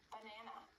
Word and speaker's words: banana: example, in the word banana, the stress is on the second syllable. Banana. The stressed A has an R sound, but the other two A's have schwa sounds.